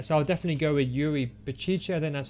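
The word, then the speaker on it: Yuri Berchiche: him just yet so i'll definitely go with yuri baciche then that's how you say his name a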